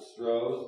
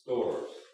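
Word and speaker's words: Storrs: of George scores St o RS some people pronounce it stros but it's stores s o r ass what he did was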